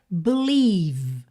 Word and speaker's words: believe: Aliás, o último não vai ter som nenhum, porque ele é totalmente mudo, tá? Bel, você termina o som no V.